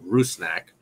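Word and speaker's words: Rusnák: Albert rusnak Ruth snack I saw the pronunciation guide that our guy James wallard on Twitter the PA announcer got said ruse snack um so we're gonna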